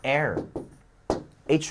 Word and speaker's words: heir: ，比如说继承人叫 heir，h 不发音。